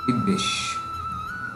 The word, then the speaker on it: বিদ্বেষ: 8, কোনো কোনো সময় দেখা যায় যে বফলাযুক্ত বর্ণের সামনে যদি রস্যি, রস্যিকার এবং এ একার ইত্যাদি থাকে, তাহলে যুক্ত বফলার সাথে কার যুক্ত হবে, যেমন বিদ্বেষ, যার সংস্কৃত উচ্চারণ বিদ্বেষ।